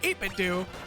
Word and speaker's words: 8BitDo: he says it's pronounced eight bit do as it as like scooby-doo for the do part so it's 8-bit dude